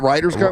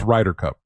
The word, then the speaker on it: Ryder Cup: Is it Ryers Cup? Oh, it's Ryder Cup.